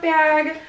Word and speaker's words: Bea: just feel like this bag is so pretty it's so like it is literally its name b smooth but b is spelled b e a like beatrice but it's b um i love this